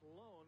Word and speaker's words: Lon: Now, that is pronounced Lone, but it is spelled L-O-N.